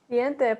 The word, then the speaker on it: diente: Diente. Diente, perfect. Perfect. So yeah, the important thing to know here is like, it's not going to be like English where we kind of merge vowels together.